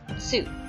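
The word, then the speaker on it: つ: Next we have tsu. You would think that it would be pronounced tu, because it is a T and a U, but it is actually pronounced tsu.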